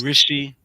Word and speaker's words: Rishi: Rishi, right? Correct. Yeah. Similar like the UK Prime Minister. Oh, Rishi Sunak. Right. Same pronunciation. So.